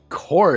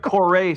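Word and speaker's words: Kore: Core. Just K O R E. Core is pretty cool. We just call it core or core. I don't know if you pronounce the e.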